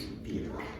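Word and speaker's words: bir: So, the Turkish word for one is beer.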